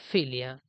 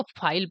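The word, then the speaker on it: phile: Demo से plus फिलिया, फील। देखिए इसको फील नहीं पढ़ते, इसको फाइल पढ़ते हैं, फाइल। इसका प्रोनाउंसिएशन जो है ये फाइल के आता है, फाइल, ठीक।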